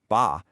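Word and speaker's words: 八: On the flip side, the number 8, which is pronounced ba, is considered incredibly lucky because it sounds a lot like fa, the word for wealth and prosperity.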